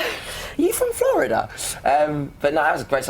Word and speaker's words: Flo Rida: Like me, it's Florida. His name is Florida. He comes from Florida, so he changes to Flo Rida.